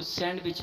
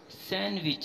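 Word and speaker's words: sandwich: next word देखें कि हम इसको सैंडविच पढ़ते हैं सैंडविच जो कि गलत है वर्ड सैंडविच है सैंडविच अब डी यहां पे साइलेंट है अब नया वर्ड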